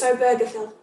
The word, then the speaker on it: Obergefell: And people wanting to say Obergefell, I did look up how to pronounce it. E ela tá corrigindo, a pronúncia realmente é Obergefell. It's Obergefell.